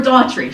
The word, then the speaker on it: Doherty: mispronounce your name, but I am Doherty, not Doherty, just so you know. We're Daughtry.